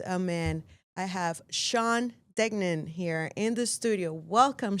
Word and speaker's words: Degnan: I have Sean Dgnen here in the studio.